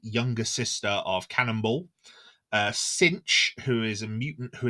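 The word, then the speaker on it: Synch: I think he's great it's spelled cinch s y n c h but I imagine You' probably say it's syn because that's what he does he sinks with someone so yeah sink I'm G to go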